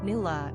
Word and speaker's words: Nuala: Nuala, pronounced Nuala, is the Gaelic diminutive equivalent.